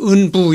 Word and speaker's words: 은부: 그래서 이거는 개가 싸울 은이고 도끼부자지만은 뭐 이렇게 뜻으로 쓴 게 아니라 단순히 음을 빌려서 쓴 것 같아요. 그래가지고 이거는 뭐 내용으로 해석할 것이 아니고 그냥 은부 이렇게 발음하는 것이 좋을 것이다 그렇게 생각합니다.